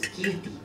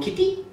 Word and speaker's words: Kirthy: I will say my name is Kirthy. But whenever I do that to European people, they go, Kitty?